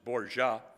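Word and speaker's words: Borja: So, in 1494, the pope, who by the way was a Spanish gentleman by the name of Rodrigo Borha, B O RJ A. Uh, the Italians pronounced it Bourja, uh, created a line, as you can see there, at the Treaty of Tortois in 1494.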